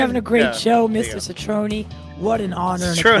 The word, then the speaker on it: Cetrone: license, and I said, "Can you tell me how you pronounce that last name?" And he said, Cetrone. Oh, so the che.